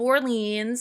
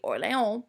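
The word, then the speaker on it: Orléans: If you want to put an English spin on, you can say Battle of Orleans. I know we're used to seeing New Orleans. Okay, true French pronunciation would be Orleans, but whatever.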